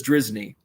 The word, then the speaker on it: Drizzny: he it's he goes it's actually pretty simple just says drizzny uh let's see uh